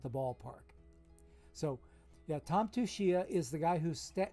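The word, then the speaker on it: Tsuchiya: forget how to spell his name but it's pronounced tushia and he uh every now and then you'll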